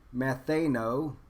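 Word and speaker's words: μανθάνω: And so if we pull out the word learn, and learn it's this word matheno, or I think is how you pronounce it, and it's properly learning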